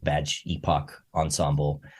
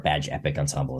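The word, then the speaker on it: Badge Époque Ensemble: He's got a great project called Badge Epoch Ensemble, or Badge Epic Ensemble is how you're supposed to say it, although it's spelled weird.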